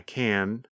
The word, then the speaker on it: can: I can, I can't. I can, I can't. When we say the positive form, we pronounce the letter N longer.